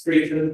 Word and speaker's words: Streeton: So my name is Streeton. Streeton is spelled STREETE for Echo, and for November I'm